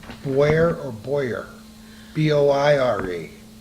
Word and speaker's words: Boire: B-O-I-R-E. Boire. B-O-I-R-E. That's boire.